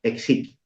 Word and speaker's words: Esiquio: Esiquio, que cabe la peculiaridad que se escribe de muchas maneras, se escribe con X, se escribe con H, se escribe sin H, pero para todos, Exiquio.